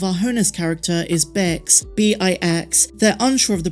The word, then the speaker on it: Bix: hoeness character is bex b-i-x they're unsure of the pronunciation but they believe it's pronounced like kicks but with a b so bix bespins say they're not